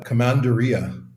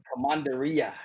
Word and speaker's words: Commandaria: the oldest wine label still in production the commandria how do i pronounce that yeah commandaria commandaria all right the the commandaria was uh invented